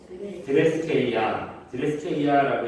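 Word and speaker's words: θρησκεία: 드레스케이아라고 읽는데 그 오늘 본문 우리가 읽은 26절, 27절 보시면 경건이라는 말이 굉장히 많이 나와요.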